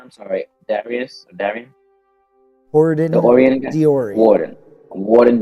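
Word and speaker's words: Horodon: Horadin The Orian guy? Diorian. Warden Diorian. There we go. Diorian. I'm Horadin, like, well, Gordon Diorian. Horadin. Gordon H-O-R-O-D-O-N. Horadin.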